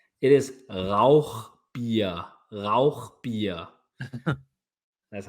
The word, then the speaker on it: Rauchbier: I'm sure I'm do you want me to pronounce it I speak German is it Rous beer or Rock Beer it is RA beer beer that's how you say it yeah I